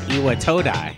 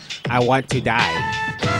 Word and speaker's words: Iwatodai: That's how you say it, Iwatodai. Not I want to die. Iwatodai.